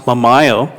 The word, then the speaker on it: Memayo: I like that, but it's pronounced Memayo.